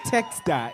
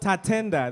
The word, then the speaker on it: Tatenda: You guys always say his name wrong. It's not Texta, it's your Roman numeral X, Tatenda.